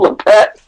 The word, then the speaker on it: Lippett: I had a little bit of grip juice on me when he took Ronnie Lippett right after that.